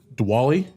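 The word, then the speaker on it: Diwali: No, no, it's usually a ready starting train cuz uh Dwali, that's correct pronunciation.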